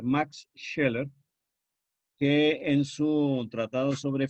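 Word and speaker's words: Scheler: parte del siglo XX heller que se escribe con ese cheque y una l no una l heller Max sheller que en su tratado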